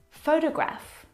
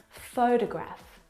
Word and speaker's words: photograph: So in the first example, photograph, the first syllable is the stressed syllable. You can hear it very clearly. Photograph. Oh. Photograph. The second syllable is unstressed, and it is reduced down to the schwa sound.